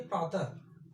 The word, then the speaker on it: प्रातः: हुआ, विसर्ग ह आया, बिंदी लगा, वह इसका उच्चारण किए प्रातः।